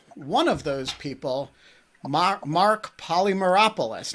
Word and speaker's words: Polymeropoulos: of those people mark polymeropolis now did i pronounce your name correctly you did pronounce it correctly that's very good so